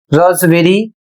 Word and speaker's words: raspberry: अगला शब्द है RASPBERRY और इसे रॉसबेरी, इसकी हिंदी होती है रस भरी अर्थात एक प्रकार का फल।